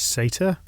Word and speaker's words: satyr: If you're wondering what a satyr is, apparently the American pronunciation is satyr.